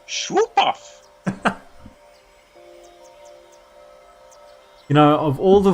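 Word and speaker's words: Shoopuf: Hey, we better hurry or we'll miss the shoe puff. Shoe puff? That's some kind of boat? Yes. It's pronounced Schwoopuff.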